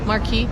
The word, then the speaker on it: marquee: movie marques so it wait how do you say that marquee so it looks like you're